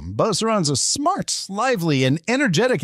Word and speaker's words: Beauceron: these dogs, at least you’ll know how to pronounce its name Beauceron (BO-se-ron) • Used to protect and drive the